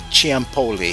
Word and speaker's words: Ciampoli: Churchill's secret agent, Max Ciampoli. Have I pronounced your last name correctly, my friend?